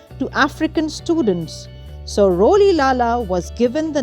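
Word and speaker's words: Rolihlahla: nelson's birth name was roli lala oh the name sounds difficult to pronounce hey friends let's say it together ro li lala that's correct roli lala nelson was the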